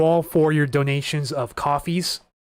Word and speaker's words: Ko-fi: But in the meantime, thank you all for your donations of coffees. I don't know if the site is pronounced Ko-Fi or coffee. I pronounced it Ko-Fi at first, but I think it's just coffee.